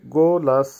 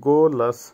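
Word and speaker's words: голос: গোলাস, গোলাসের অর্থ হবে গলার আওয়াজ বা ভয়েস, উচ্চারণ হবে গোলাস, আবারও বলছি গোলাস।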